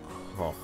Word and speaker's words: Koch: Koch is pronounced Koch with a phlegm.